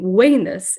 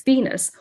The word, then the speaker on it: Venus: pronunciation is very different the letter v is pronounced as a u the letter c is pronounced the k and the i consonant later the letter j sounded like a y resulting in wayneness instead of the goddess venus or julius kaiser instead of julius caesar the details put into